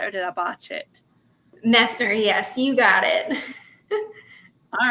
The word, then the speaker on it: Messner: Fiction and tonight we are here with Mesner. Now, I forgot to ask you about your last name. So did I say it right or did I botch it? Messer.